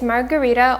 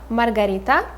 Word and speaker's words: Margarita: we'll say master master the third character is margarita also very close to the russian way of saying it so we would say margarita margarita and the fourth main